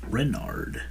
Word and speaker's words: Renard: Renard.